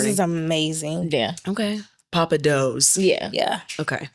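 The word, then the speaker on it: Pappadeaux: I'm Papa Do's learning. is amazing. Yeah. Okay. Papa Do's. Yeah. Yeah. Okay. But it's not spelled like it sounds.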